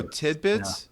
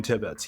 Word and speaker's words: Tibbetts: Oh, Tidbits? Yeah. Oh, I thought. No, not Tidbits. I love this guy. I want to meet Ryan. Oh, you did say his name? His name's Ryan Tibbetts.